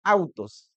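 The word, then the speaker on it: αὐτός: Él en griego significa autos. Así, así se pronuncia y así se escribe autos en realidad significa él refiriéndose a Cristo.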